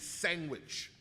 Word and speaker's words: sandwich: There's no fucking G in sandwich. You fucking put it in there because you're a rogue villain and a Philistine. Sandwich.